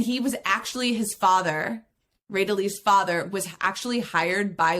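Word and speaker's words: Rédélé: little bit about Jean Ridley, I think is the correct French pronunciation. So I'm going to really work hard on making sure I pronounce it correctly. It's Ridley.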